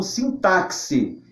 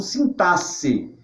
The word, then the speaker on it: sintaxe: que acontece por exemplo com sintaxe alguns anos eu como sim táxi eu no meu curso de letras aprende a pronunciar como sintaxe eu sigo essa Norma Mas algumas pessoas podem pronunciar assim táxi é tudo uma questão de escolha muito bem por isso